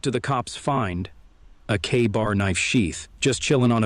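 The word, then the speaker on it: KA-BAR: with detail and yeah we're pronouncing that bad boy like it's written K Bar all right here I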